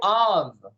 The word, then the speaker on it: of: Next, followed by of. Lembrando que a pronúncia de OF é of, com som de V.